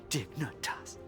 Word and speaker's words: Dignitas: Coming back. Dignitas. It's 3 syllables.